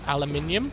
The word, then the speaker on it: aluminium: I've got to, for those Satisfactory people, I've got to aluminium, or aluminum, as the Americans say. Is that right?